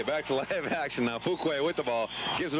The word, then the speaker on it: Fuqua: That's Fuquay. That's why I don't let you say too much, Ed, because you always mispronounce the names. Okay, back to live action now. Fuquay with the ball.